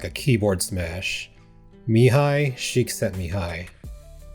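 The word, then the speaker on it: Mihaly Csikszentmihalyi: Mihi Shik sent me Mihi. Yeah, that's actually how you say it.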